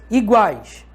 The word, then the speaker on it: iguais: Iguais. Iguais. uai. É um tritongo. Se é um tritongo, iguais. Guais. É uma pronúncia só, é um tritongo. Tritongo não é quebrado no meio.